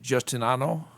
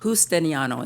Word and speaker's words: Justiniano: Zena Justinano? You're right, you slaughtered it. Yeah. There you go. Well, how's the last name pronounced? Justiniano, it's Justiniano with H.